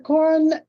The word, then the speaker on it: Corin: Do you pronounce it Corn or Corin? Warren? Corin? Yeah. Yes, ma'am. Mr. Corin, I'm told that you